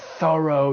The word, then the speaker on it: thorough: You could say the police carried out a thorough investigation or a thorough search.